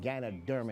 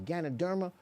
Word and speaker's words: Ganoderma: And the reason why organo is a healthy coffee is because it has something called ganoderma in it. Ganoderma, for those who don't know, is spelled G A N O D E R M A.